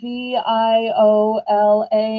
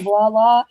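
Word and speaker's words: voilà: And she had to spell it V I O L A. And she's like, it looks like viola, but it sounds like voila.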